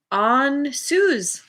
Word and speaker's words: Ansuz: Ansuz. Yeah, I gotta find the page. Where are you, Ansuz? I'm saying it right. There you are. On Suze.